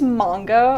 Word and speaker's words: manga: is the proper pronunciation so it is manga the manga is basically the Japanese word for comics so Japanese language the vowels are the vowel sounds are oh so it's the OO sound so it's manga okay